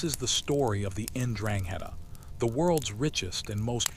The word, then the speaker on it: 'Ndrangheta: Ndrangheta, pronounced Ndrangheta, roughly translates to heroism or virtue in the old Calabrian dialect.